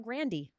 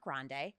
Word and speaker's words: Grande: her name Rihanna um it's Ariana Grandy not grande stop yeah yeah Gypsy Pony girl not grande not large Grandy this is one I